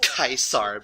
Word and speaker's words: Caesar: heard you were Toledo's boys, I think it's pronounced Kaisar, by the way.